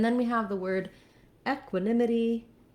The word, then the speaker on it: equanimity: have the word equanimity this also has first syllable stress but doesn't have two pronunciations we can't say equanimity only equanimity and the e x syllable is not stressed has a little secondary stress because of that clear f vowel but in equanimity our nim syllable is where we have the stress so you want to